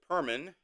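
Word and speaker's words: Purim: days of Perman U M in 2026 will be celebrated Monday, March 2nd through Tuesday, March 3rd.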